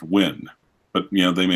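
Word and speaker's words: Nguyen: me or Kenny Kenny win and like I said we have a very large Vietnamese population here in Oklahoma City and they tell me ng uie and it's actually pronounced win but you know they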